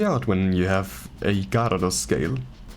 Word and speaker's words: Gyarados: Seek me out when you have a Gyarados scale. I'm pretty sure the Y is silent in Gyarados in English.